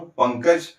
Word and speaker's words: पंकज: पंकज जिसमें अनुस्वार के बाद आया क तो क का जो वर्ग है उसका पंचमाक्षर है अंग। इसलिए यहां पे अनुस्वार का उच्चारण अंग की तरह किया जाएगा।